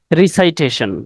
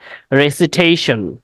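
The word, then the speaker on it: recitation: আমরা আবৃত্তি অথবা তিলাওয়াত এই শব্দটাকে আমরা বলি রিসাইটেশন আমরা বলি কি রিসাইটেশন উচ্চারণটা রিসাইটেশন হবে না উচ্চারণটা হবে রেসিটেশন উচ্চারণটা কি হবে রেসিটেশন নট it will not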